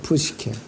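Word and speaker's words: ψυχή: 혼은 헬라어 발음은 푸시케라고 발음합니다. 푸시케.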